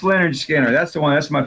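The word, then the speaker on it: Lynyrd Skynyrd: and then course it's not that oh yeah pronounced Leonard Skinner that's the one that's my favorite announced yeah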